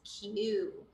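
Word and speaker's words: queue: GC okay yes so we say this as Q although you see you know UE e and UE e twice it's just read or pronounced as Q okay all right so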